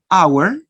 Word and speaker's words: hour: But there are a few words begin with the silent letter H. For example, hour, honest. And you don't pronounce, remember, you don't pronounce the letter H.